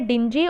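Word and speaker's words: dingy: और डिंजी, sorry इसका pronunciation है डिंजी, और डिंजी को आप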